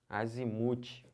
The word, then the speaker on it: azimute: outra aqui ó azimut azimute é o muque a sílaba tônica tô falando que são paroxítonas última penúltima asimut é